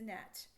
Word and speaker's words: gnat: It's a gnat. Okay, so GN and KN both say na, na.